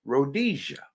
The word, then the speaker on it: Rhodesia: called named Rhodes Asia and of course we pronounce it as Rhodesia in Africa okay but it's all about Manifest